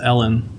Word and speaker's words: Allen: I'm like, her name is pronounced Ellen, but it's pronounced with an A. And the woman's like, what? And I'm like, it's spelled like Allen, but it's pronounced Ellen.